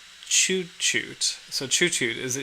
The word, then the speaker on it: tjutjo: Um, and then Oh, it it's pronounced chuchoot.